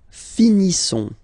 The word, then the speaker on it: finissons: Nous finissons. Okay? I-S-S-O-N-S. Ils sont. Nous finissons. Finissons. Okay, final S, not pronounced.